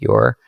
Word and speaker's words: Ure: And the book is published on Amazon, and you can just search Wayfinding and then my last name, which is spelled U-R-E. It's pronounced your.